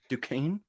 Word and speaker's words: Duquesne: Because I can Duquesne. never. Duquesne?